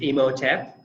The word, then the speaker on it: Imhotep: is there a favorite well my favorite is Imhotep which is named after the Egyptian builder his